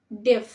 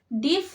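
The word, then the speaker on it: deaf: সেন্টেন্সটা হবে হি ইজ ডেফ হিজ ডেফ ডিফ নয় ওয়ার্ডটি হবে ডেফ ডি এফ ডেফ ছেলেটি বামুন ছেলেটি বামুন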